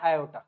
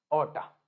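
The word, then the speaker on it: aorta: तरफ लेके जाता है इसको हम बोलते हैं आयो क्या बोलते हैं हम इसको आयो या फिर बहुत सारे लोग इसको ऑटा भी बोलते हैं इसकी स्पेलिंग होती है ये ए ओ आर टी ए ऑटा ये क्या है ये है क्या बताओ क्या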